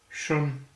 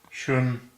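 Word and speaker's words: 什: The next character we're going to look at is Shun. Shun is spelled S-H-E-N in Pinyin, but it's pronounced more like S-H-E-U-N. Shun.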